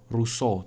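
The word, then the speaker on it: Rousseau: pendapatnya John Socks Russo ini orang Perancis bacanya gitu rusuh Cumanya dibacanya belakangnya gitu aja ini dia nyebut tentang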